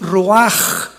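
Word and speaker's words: רוח: La palabra para espíritu en el hebreo es la palabra que es roaj, que se escribe ruash con ch, pero repito, ese pronuncio pronuncia como J.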